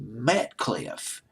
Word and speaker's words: Metcalfe: Robin Hitchcock, two other guys, it was Andy Metcalf, or Claff. I can't pronounce his last name. It's Metcalfe, and Mars Windsor.